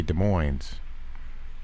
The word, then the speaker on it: Des Moines: Des Moines uh it's it's spelled the same way but you say Des Moines you Indians need to